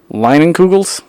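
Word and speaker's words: Leinenkugel's: So, today we're drinking Leinenkugels.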